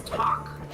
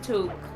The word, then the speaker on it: toque: that like it's suspicious it read as talk well we pronounce it toque so Tick Tock yeah and I and